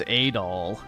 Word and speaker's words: Adol: About 5 years ago, a Roman vessel at sea was calm that day and run a foul Yeah, it's Adol.